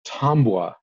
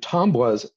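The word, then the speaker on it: tabua: object known as a tambour t-a-b-u-a but pronounced with an as if it had an m in it um and tom was the word tomwa comes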